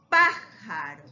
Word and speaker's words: pájaro: llevan tilde lógico lógico pájaro note la sílaba tónica está aquí en la antepenúltima y también lleva ahora